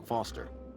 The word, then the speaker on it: Foster: I'm Foster. I'll remember that easy because your name rhymes with fossil and you're old.